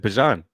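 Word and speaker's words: Bijan: Bjan from No one had a problem saying Bjon. Bjan from No. So, so they asked him is, you know, how's it pronounced? And he said Bjan.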